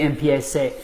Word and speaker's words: empiece: Now, if we were just to, it's going to be empiece. This one, that's a C. This one makes a little less sense because a ZE should have that same se sound, but somehow, somewhere along